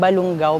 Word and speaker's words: Balungao: po siya ng kwento na balon ugaw which ang ibig sabihin po ay young widow at naging ang pronunciation po Later on a balung ang Balungao bago ito naging bayan